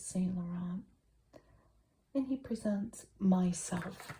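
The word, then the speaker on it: MYSLF: And he presents Myself, which is spelled myself but without the E.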